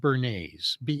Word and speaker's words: Bernays: So what he did in his books, his name was Edward Bernays, not spelled like the sauce, but spelled Bernays.